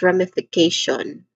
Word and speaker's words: ramification: All right so that's ramification. Pronunciation wise we start with brah which has a